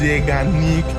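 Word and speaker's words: Zeigarnik: But I I had problem you know pronouncing that but it's pronounced zanic he ke named after a psychologist named bloomer zanic who discovered something fascinating in the 1920s.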